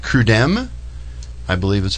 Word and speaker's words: CRUDEM: Steve represents an organization called CRUDEM. I believe is how you pronounce it, correct? Correct. Correct. And tell me quickly what you do. CRUDEM is the name of essentially the organization that